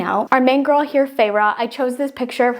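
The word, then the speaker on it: Feyre: I'm so confused I didn't know how to pronounce her name which is farra and I was lost okay but then it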